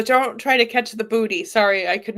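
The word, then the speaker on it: buddhi: They call it booty, right? I mean, it's not spelled like booty like B O T Y. It's spelled like B H U D H I. Right. Hi. You know, so yeah, but it sounds the same way.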